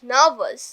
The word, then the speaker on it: nervous: university, university university, university university, নার্ভাস nervous, নার্ভাস। nervous, তাহলে র এর পরে যদি কনসোনেন্ট সাউন্ড আসে তাহলে র এর উচ্চারণটা হবে না, বাট র এর পরে যদি ভাওয়েল সাউন্ড আসে তাহলে র এর উচ্চারণটা হবে।